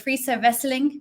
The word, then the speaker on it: Friso Wesseling: relevant to our world I'm here today with free so wrestling co-founder and Chief Operating Officer of Coco friso